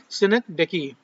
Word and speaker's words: synecdoche: तो यहाँ पर जो पोएटिक डिवाइस है वो क्या है, सिनेक्डेकी। इसका प्रोनाउंसिएशन सही है सिनेक्डेकी।